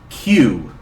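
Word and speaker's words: 九: Like I said earlier, Cuban no was very important to solving this mystery because nine is pronounced Q in Japanese.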